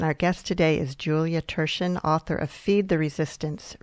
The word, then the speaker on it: Thurshen: You're listening to Writers' Voices with Monica and Caroline, and our guest today is Julia Thurshen, author of Feed the Resistance, Recipes and Ideas for Getting Involved.